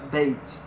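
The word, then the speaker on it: בית: A pronúncia Beit.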